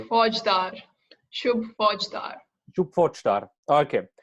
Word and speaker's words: Faujdar: Faujdar. Shub Faujdar. Shub Faujdar. Okay. Yeah. That was a kind of German pronunciation of Faujdar.